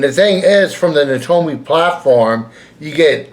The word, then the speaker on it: NAOMI: It the O is silent in in in the it's it's supposed to be Nattoi. Nomi and and and not Naomi. Most people say Naomi and and it's not called Naomi, it's Nati.